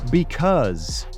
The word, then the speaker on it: because: Because esta palabra, el porqué del inglés, se pronuncia como si tuviera una Z. Because. Con vibración.